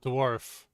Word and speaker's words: dwarf: Lilia, can you pronounce for me the word dwarf? Donkey? I think Incorrect. it's pronounced like this. Donkey. Incorrect. Say Darf. Arf. Now say dwarf. Donkey. Incorrect. Donkey. Incorrect. Dwarf. It rhymes with scarf.